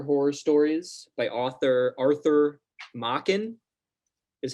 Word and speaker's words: Machen: We're going spooky, and we're reading the Great God Pan and Other Horror Stories by author Arthur Machen.